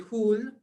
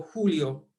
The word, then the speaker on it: Joule: o Joules, otros van a decir Joule, Jule o Julio, Julios. ¿Ok? Para mí, Julio es un mes. Y dado que Joule es un apellido, yo pienso que es más correcto no cambiar la pronunciación.